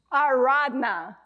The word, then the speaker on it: Aradhana: Ardana.